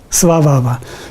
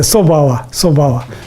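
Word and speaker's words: svabhāva: Maybe svabhava. So in Tibetan we actually don't pronounce correctly, so we say sobhava, but svabhava, that's called rangshi in Tibetan, rangshi, or the nature.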